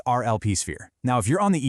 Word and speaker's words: rlpSphere: Today, we're diving into the Smart Lead program inside rlpSphere, and that's pronounced rlpSphere.